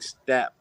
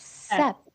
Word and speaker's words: Sep: I'm not saying step, or I'm not saying step. I'm saying step. But her name's not Step. She said to pronounce. It's Sep. Just say S.